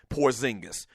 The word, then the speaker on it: Porzingis: The New York Knicks go out, and they draft Kristaps, I believe that's the way you pronounce the dude's name, Porzingis.